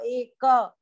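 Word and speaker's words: एक: The ka has to be pronounced fully, no ka, eka. Of course, where there is no halanta, you have to chant it full. So then, like if you give eka bhaktir vishishyate, then it becomes little prolonged.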